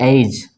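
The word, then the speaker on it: edge: उसी तरह जी के पहले यहाँ डी आया तो इसको क्या पढ़ेंगे, एज, ठीक है।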